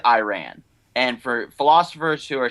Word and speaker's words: Iran: He said Iran, and for philosophers who are saying, well, that's how you say it, it really isn't. Iran is Iran. It's not Iran. It's not Iraq.